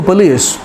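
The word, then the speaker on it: police: द पुलिस are coming, it means पुलिस, नॉट पुलिस, ना पुलिस, पुलिस, पुलिस, right. सो श्वा sound है ओ का, पुलिस, ये उसका प्रोनाउंसिएशन है, इसको ही बोलिए।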